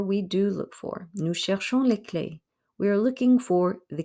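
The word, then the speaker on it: clés: do look for nu clay we are looking for the keys don't pronounce the s don't pronounce the s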